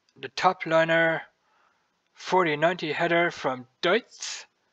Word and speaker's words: Deutz: Some people pronounce us as Deutz. I say Deutz because it's a German company, Deutz.